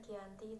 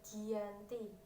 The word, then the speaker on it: Giyanti: perjanjian ini yang bernama Desa jati dalam pelafalan Belanda Desa ini disebut Giyanti dan secara nulis terbaca